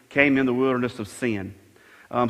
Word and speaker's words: Sin: in the wilderness of sin um some people would pronounce that as sign but isn't it something